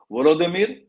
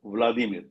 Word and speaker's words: Volodymyr: Pronunciation different. Volodymyr, Vladimir.